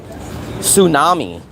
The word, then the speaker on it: tsunami: Um, tsunami. What about the word tsunami? Tsunami um starts with a T there. You do not pronounce the T in tsunami just like you don't pronounce the H in herbal herbs and spices.